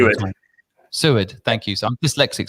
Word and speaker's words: Seward: People get my surname wrong all the time. Seward, thank you.